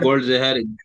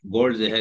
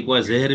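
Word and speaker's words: Goldziher: اپ مجھے سکھا دیں اس کو کوئی گولڈ زہر گولڈ زہر ہی بولتے ہیں کبھی کار زہر بھی بول دیتے ہیں لوگ تو سبت حرف کو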